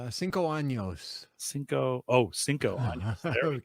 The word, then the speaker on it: años: This was the Reserva 5 Anos. Am I pronouncing that right? Cinco años.